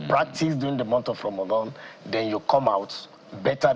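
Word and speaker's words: رمضان: still learn, you practice during the month of Ramadan, then you come out better than what you were.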